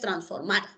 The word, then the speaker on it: transformar: En el caso de transformar, la sílaba tónica es transformar.